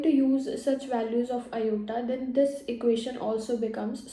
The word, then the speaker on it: Iota: looks like I and we pronounce is at Iota and the value of